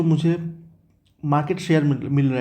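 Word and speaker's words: Malé: माले pronunciation कैसे आएगा माले और करेंसी ऑब्वियसली मालदीपियन रुपैया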